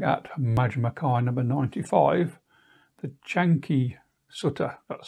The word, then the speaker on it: Canki: Hello, today I'm looking at Majjhima number 95, the Canki Sutta, that's spelled C-A-N-K-I in Romanized Pali.